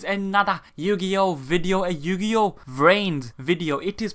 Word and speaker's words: Vrains: Yu-Gi-Oh video a Yu-Gi-Oh Rin video it is pronounced V rign like brains trains but with a V so it is going